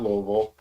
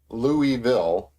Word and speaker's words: Louisville: And I always usually say, so I used to say Louisville, but I've taken to saying Louisville, right? Just kind of lazily say it. Everybody's got their own way, and even among the people who live here, everybody's got their own way. There's no right way.